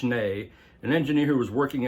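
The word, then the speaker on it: Schnee: hearing a lot of talk about Bill schne pronounced schne an engineer who was working at a studio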